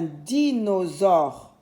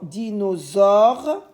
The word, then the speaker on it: dinosaure: Alors le S ici se lit Z parce que j'ai une voyelle devant et une voyelle derrière et j'ai un seul S.